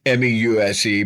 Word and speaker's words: Meuse: The American infantry in the Argonne, in the Meuse, it's pronounced Meuse, it's M-E-U-S-E, but it's pronounced Meuse.